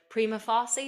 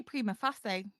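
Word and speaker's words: Prima Facie: to say this word prima fary is that how you say it primy okay I'd say prima fasy Prima fasy so this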